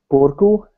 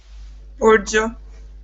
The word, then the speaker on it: Boro: help me with it is it boru how do you say your name Boro Boro are you polish by